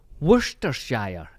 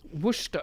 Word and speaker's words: Worcestershire: Worcestershire. Is that right? I think you've done it.